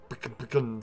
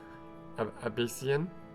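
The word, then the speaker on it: Abecean: The moon shone like crystal on the deep sapphire waters of the Apican Sea. You didn't even try to pronounce that properly. Abyssian? Yeah, that's the one.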